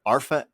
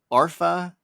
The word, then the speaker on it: Arfa: We should probably, for the people listening, by the way, should probably go ahead and it's Arfa. It's not even. It's Arfa. Let me just spell it.